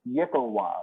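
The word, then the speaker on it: yklwa: short sword or daggers it is pronounced yikkawa it's a simple melee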